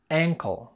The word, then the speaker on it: ankle: خلي بالك من النطق، فرق بينها وبين نطق كلمة uncle، دي بتتقال uncle، إنما اللي معانا النهاردة بتتقال a ankle. حرف الـ a flat جدا زي ما انت سامع ankle.